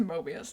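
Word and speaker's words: Möbius: There's an umlaut on the O. Hast seen the Mobius Beast. Mobius. It's pronounced Mobius. Even in the audiobook it says Mobius, but the umlaut.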